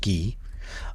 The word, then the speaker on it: 기: this uh character um which in Syino is pronounced ghee uh means self and so this is actually from Zen master Sun's compass of Zen.